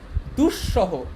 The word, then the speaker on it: দুঃসহ: দুঃসহ, দেখো এখানে একটা ইন্টারেস্টিং ব্যাপার, এখানে যে দুঃসহটা আছে এটা বানানটা দন্তস্ব দিয়ে কিন্তু উচ্চারণটা তালব্যস্ব দিয়ে, দুঃসহ, এটা কিন্তু দুঃসহ না, বুঝছো?